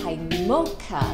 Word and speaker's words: mocha: 朱古力咖啡是 mocha，就是美国读音，或者 mocha 是意大利读音，基本上